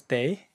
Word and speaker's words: 得: When it's pronounced as day, it is a modal verb.